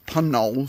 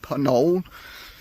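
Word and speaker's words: Puncknowle: We're staying in a place called Punk uh Panol. Sorry, don't pronounce the K apparently. Panol.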